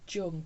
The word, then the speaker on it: Jung: It's written Jung, but I believe it's Jung.